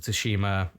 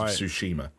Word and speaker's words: Tsushima: days of Ghost of Tsushima. Yeah. At a time where the idea of a AAA game with the balls to release with a silent T was like blowing our minds.